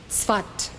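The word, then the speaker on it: Safed: in the city of Swat you might as well write this down then it is spelled s-a-f-e-d but it's pronounced svat he arrived in the city of fat in 1570.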